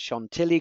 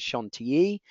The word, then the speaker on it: Chantilly: out and actually made what we would refer to as Chantilly cream actually the credit correct pronunciation is Shon te cream but they were